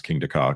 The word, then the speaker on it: Kingda Ka: Which, by the way, I think I've actually managed to pronounce Kingda Ka correctly, even though it looks like Dhaka.